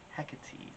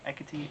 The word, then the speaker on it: Hecate: we are gonna be talking about Hecate e or equity or a caught a there are many ways to say her name and this is probably